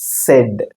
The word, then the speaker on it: said: இது வந்து said. ஷெட்னு சொல்லக்கூடாது. ஓகேவா?